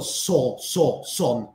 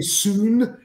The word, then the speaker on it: son: ¿Conoces, sabes cómo pronunciar hijo en inglés? Child, no. Hijo Ah, como... no. Soon, no. Sam, igual, ya. Son. Yeah. No, yo solo cuando pronuncias el sol, just imagina es el mismo que hijo. Son, hijo, son, Okay.